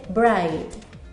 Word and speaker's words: bright: como en el ejemplo brillante que se dice bright y no pronunciamos la ce h luego tenemos la h